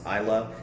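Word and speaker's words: Islay: one of my favorite eyelash gotchas isla yy pronounced i love and the thing what makes an isla scotch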